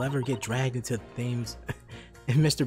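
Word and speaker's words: Thames: me floating face down in the thymes tomorrow themes it's pronounced themes i'm sorry what you're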